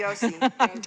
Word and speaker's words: Yossi: Not Jose. Yossi. Yosa. Rabbi Jose. We need to put it in there a little bit better. I'm going to spell it Y-O-S-I next time.